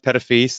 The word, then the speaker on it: Petitfils: tradition in our family my last name is pronounced petofi's Thank You Aaron for pronouncing that correctly and